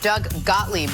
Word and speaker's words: Doug Gottlieb: Doug Gottlieb is the way to pronounce it.